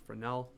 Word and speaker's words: Fresnel: neat things to happen augustine fresnel or fresnel i guess really should be pronounced fresnel develops a comprehensive mathematical